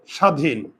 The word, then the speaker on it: স্বাধীন: যে ওখানে একটা লিখেছি স্বাধীন পারবে খেয়াল করো স্বাধীন প্রথমে কিন্তু বফল আছে তাই না আর প্রথমে যদি বফল থাকে ব এর উচ্চারণ হয় না আর উচ্চারণ লেখার সময়